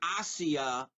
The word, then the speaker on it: Asia: stars Asia Argento and she pronounces her name hacia Argento but since she's a suspect in the murder of Bourdain Anthony Bourdain I'm gonna call her Asia Argento she stars in